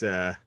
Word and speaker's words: Fehse: Is that how you pronounce his name? Marc Fehse? I believe he said it's Fehse.